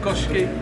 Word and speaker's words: Köşk: Je sais c'est marqué Kosk, mais moi je le prononce à la turque, Köşke.